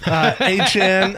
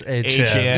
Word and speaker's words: Achane: NFL, Dolphins head coach Jeff Halfley says Devon Achane could have games where he gets more than 40 touches. Did you say that right, Marcus? Uh negative. Achane like Travis. Achane.